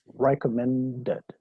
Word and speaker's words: recommended: O si termina en D, por ejemplo, recommend, es recomendar. Entonces el pasado sería recommended.